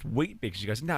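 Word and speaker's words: Weet-Bix: She's Australian, lives in Perth, and a little girl, probably seven or eight, says, "I have Wbecks for breakfast." And she goes, "No, it's pronounced wheat bicks."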